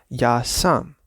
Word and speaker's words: ja sam: when you speak them, you should not emphasize the verb. You should always emphasize the personal pronoun. Ja sam, ti si, on je. Not ja sam, ti si.